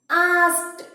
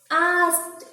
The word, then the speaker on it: asked: Whenever to this word, add to this word ed, we can pronounce like turned. Turned. And here, second example. Asked. Asked.